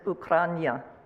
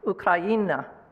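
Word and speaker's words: Україна: And my t-shirt, which you might not be able to read, says Ukraina. I'm sorry, I said it wrong. Ukraina, which is Ukraine in Ukrainian.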